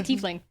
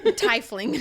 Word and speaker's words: tiefling: That's how you say tiefling. Tiefling. Yeah, we're still saying it wrong. My bad. Tifling.